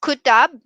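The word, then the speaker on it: Qutub: largest spice market and then we have here kutab minor yes it is pronounced as kuttab and it is a world heritage site complex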